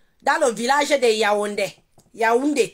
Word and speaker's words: Yaoundé: Yaoundé. Tu entends comment ça se prononce, hein? C'est Yaoundé, le village de Yaoundé.